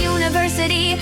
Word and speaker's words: university: But, a university sounds like you, so A is correct.